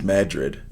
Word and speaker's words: Madrid: Madrid, Iowa is Madrid.